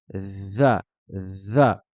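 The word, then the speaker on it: ذ: la prononcera da da la lettre zal va se prononcer un peu de la même manière que la lettre sa juste au-dessus on va sortir le bout de sa langue et le pincer entre les dents et on va dire za za on retrouvera aussi ce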